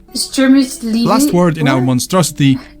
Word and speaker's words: Wstrzemięźliwe: V S Ts Zi E M I O Zi L I V E. Wstrzemięźliwe. Wstrzemięźliwe. Wstrzemięźliwe.